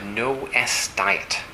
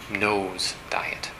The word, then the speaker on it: No S Diet: solves this problem it's called the no s diet uh or you can pronounce it nose diet plural of the word no not nose on your fate it's a sort of